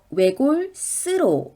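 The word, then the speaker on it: 외골수로: 'oegol-seuro' 가 아닙니다 . ' 외골 세우 로 ' 라고 발음 해야 합니다 .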